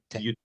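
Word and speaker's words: 言って: and a U, is sometimes pronounced differently because it sounds so much like please go. So it's sometimes pronounced Yutte. yutte.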